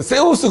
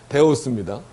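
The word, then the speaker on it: θεός: 그러니까 세타라고 읽을 수도 있지만 그 데라고도 발음이 돼요. 세로도 발음이 되고 이게 우리는 세오스 그렇게 읽으면 안 됩니다. 데오스입니다. 그거를 이제 라틴어로 하면은 그 데이예요, 데이.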